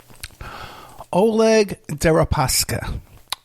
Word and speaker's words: Oleg Deripaska: to taking bribes from Oleg How do you pronounce that? I'm horrible with that. Oleg Deripaska.